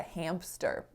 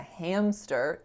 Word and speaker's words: hamster: i said you know it's not a hamster it's a hamster no p and he actually did